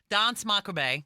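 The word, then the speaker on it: Danse Macabre: Some people don't even pronounce the r on the end. So you just say dance macabre.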